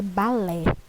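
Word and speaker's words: ballet: Aqui está a forma italiana e a forma afrancesada da palavra balé, balete, ok? Esse T aqui a gente não vai pronunciar, balé, ok?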